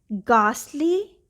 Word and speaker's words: ghastly: If GH is at the beginning of a word or at the beginning of a stressed syllable, it is pronounced as G.